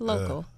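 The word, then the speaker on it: Lokal: right local TV app do I say it correctly local just local it's local you know it's local with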